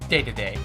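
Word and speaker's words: Dedede: Now for this final stage, Mount DDD, or Day-to-Day, as some people pronounce it.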